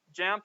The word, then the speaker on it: Jamf: Because let's face it, with stuff like JAMF, or is it JAMP or JAMF? How do you say that one? JAMP, okay. Not always the best on pronunciation, I apologize.